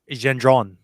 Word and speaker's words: Gendron: pronunciate his name uh in French they say Gendron is it a Lexi